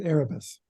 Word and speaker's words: Erebus: the Erebus resort, or do you call it Erebus? Is it Erebus? Which one is it? I pronounce it Erebus.